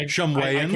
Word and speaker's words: Shumwayan: I Shumwayans. can't deny that. Shumwayan just sounds like Saiyan.